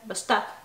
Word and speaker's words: Башта: Башта. Mm-hmm. It's on the second syllable, right? Башта.